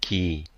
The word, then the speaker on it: 기: All right, so now this will give the pronunciation of this Hangul, gi, the Hangul gi. Gi. That's one native speaker. Ki.